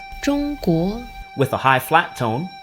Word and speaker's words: 中国: In Mandarin it's pronounced 中国 with a high flat tone and a rising tone. And in Cantonese it's pronounced 中国 with a high flat tone and a mid-flat tone.